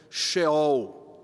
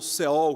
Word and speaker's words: Sheol: Essa é uma outra palavra no hebraico que se relaciona com a palavra inferno, Sheol, tá? Ou Seol, como alguns pronunciam.